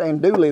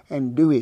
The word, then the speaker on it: andouille: called it some andouille i've pronounced it and dooley for a long time until some of them louisiana folks that's good friends of mine said no and dewey sausage now we go